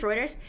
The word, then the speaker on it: Reuters: I don't know if you know that's how you pronounce Ruters. Reuters.